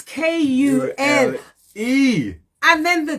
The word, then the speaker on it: Kule: It's Kule. And then the T, not cool as in cold, no.